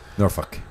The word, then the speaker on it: Norfolk: Not only do they skip the L, but they turn the O into a U.